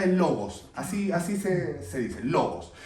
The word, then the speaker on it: logos: en el griego, porque en el Nuevo Testamento se escribe en griego, significa, bueno, la traducción literal es logos, así se dice, logos.